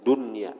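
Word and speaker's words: دنيا: beramal beribadat karena dunia, bidhammid dali, dengan dhammah dal dun, wabil qasri, dan dengan qasar pendek, bila tanwinin, tanpa tanwin bacanya dunya, ila dunya.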